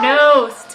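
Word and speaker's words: Knost: Nice, Matt Nost. Hits it here, and now he's What did I say? Matt before the Nost match coming started? through. Matt Nost is the guy. The K is silent, but his 3-pointer from the corner is not.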